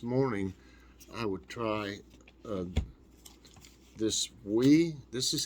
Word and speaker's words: Oui: i thought this morning i would try this we this is how it's pronounced we it's o-u-i we french and it's french-style yogurt